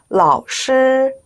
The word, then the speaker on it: 老师: 老师, 이것도 중간 글자가 일성이네요. 老师好. 네, 일성 정확하게 해주시면 좋겠습니다.